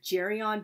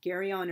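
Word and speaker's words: Geryon: of this um monster jerion but since it's like originally a greek name i pronounce it gary on or gary on i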